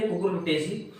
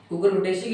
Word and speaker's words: Cucurbitaceae: तो फैमिली है कुकुरबिटेसी। कुकुरबिटेसी की स्पेलिंग हो जाएगी CUCURBITACEAE, कुकुरबिटेसी।